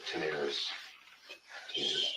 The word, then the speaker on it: Tenaris: Tenaris. Okay, just like it sounds. Yeah. Spell it again.